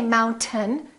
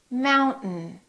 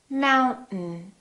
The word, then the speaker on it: mountain: disappears so we say mountain don't say mountain don't release your town keep it up and just go directly to the end mountain mountain let's try a few